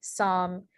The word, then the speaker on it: psalm: And then the last one is the sa sound in Greek. When it's at the beginning of a word, it's often spelled with a PS. So examples of this are psychology, psalm, pseudology, and then psyllium.